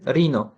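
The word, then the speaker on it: rhino: Va mana bu yerda yovvoyi hayvon turkumiga kiruvchi rino. Telaffuz qilinishi rino, yozilishi R H I N O. Shu holatda yoziladi, telaffuz qilinishda rino bo'ladi.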